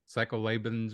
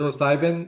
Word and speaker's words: psilocybin: Psycholabins or whatever how do you say that word? Psilocybin, I believe, would be the term you're looking for.